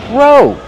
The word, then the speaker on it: row: Row. Use a long O like go and no.